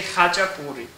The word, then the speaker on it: Khachapuri: Or you could call it Khachapuri for those who can't pronounce it. We say Khachapuri.